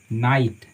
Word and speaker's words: knight: उसी तरह से मानिए, ठीक है, KNIGHT, इसका उच्चारण हम करते हैं ना ईटा, नाइट। यहाँ पे के हमारी साइलेंट होती है और GH साइलेंट होती है, उच्चारण होता है सिर्फ NIT का, नाइट। नाइट का मतलब होता है योद्धा।